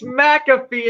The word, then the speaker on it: McAfee: first off, it's McAfee, and second off, you're wrong on the name. It's You wrong.